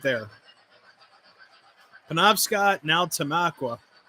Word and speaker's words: Tamaqua: Penobscot, now Tamaqua. Yeah, not Tamaco.